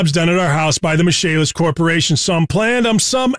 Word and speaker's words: Michaelis: Spelled Michaelis, pronounced Michaelis.